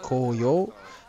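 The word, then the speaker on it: 紅葉: As you can see in most of these shots, it's a very, very popular tree, and in fact the words autumn colours, pronounced koyo, is written in the same kanji or Chinese characters as the word is maple tree, which is pronounced momiji.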